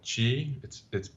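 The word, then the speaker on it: qi: whole idea of energy and they call it Chi it spelled Q capital Q I but it's pronounced like a CH IG and this is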